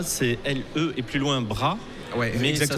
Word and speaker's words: Bras: Parce que, pardon, Lebras, c'est L-E et plus loin bras. Ouais, mais exactement. ça se prononce Bras.